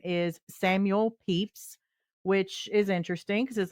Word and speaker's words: Pepys: So yeah, the Y is silent.